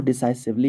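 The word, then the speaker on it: decisively: इसको डिसाइसिवली ही पढ़ते हैं, जैसे सिवली नहीं। आप लोग प्रोनाउंसिएशन के लिए मरियम वेबस्टर का यूज़ प्लीज़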